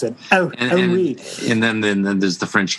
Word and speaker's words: Henri: I used to say Henry Corbin, and then I heard somebody pronounce it in the French way.